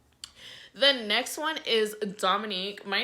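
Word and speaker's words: Dominic: So I am pronounced Dominique. My name is pronounced Dominique, but spelled D-O-M-I-N-I-C, but my nickname is spelled N-I-Q-U-E.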